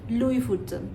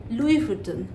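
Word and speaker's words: Louis Vuitton: এটার ফাউন্ডারের নাম হচ্ছে লুই ফুটন সো সঠিক উচ্চারণ হবে লুই ফুটন তেমনির লুই রিয়েল এবং নানা জায়গায় লুই পাস্তুর এরকম তো এই বানানটা যেখানেই আপনি দেখবেন সেখানেই উচ্চারণটা লুইস নয় উচ্চারণটা হবে লুই এবার যে ব্র্যান্ড নিয়ে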